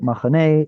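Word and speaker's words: מחנה: order to say that maybe this was originally mahana. Alas, it's 2025. We call it machane and we drop it.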